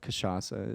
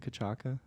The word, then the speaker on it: cachaça: I call it cachaça. Is it cachaca? No, that's a soft C.